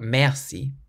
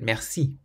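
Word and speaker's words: merci: but Mery Mery means thank you it's not Mery but Mery rest rest means restaurant so we emphasize the last syllable rest means boy it's not G but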